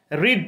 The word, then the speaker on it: read: দেখো স্পেলিংটা একই আছে কিন্তু উচ্চারণটা আলাদা হয়ে গেছে এখানে, রিড রেড রেড, READ